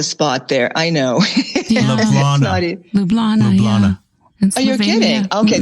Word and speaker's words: Ljubljana: I have a very good friend in Ljubljana, as a matter of fact. Thank you for pronouncing it correctly.